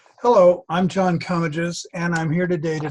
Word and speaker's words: Comegys: Comegys rhymes with rummages, except in Philadelphia, where it is pronounced Comegys.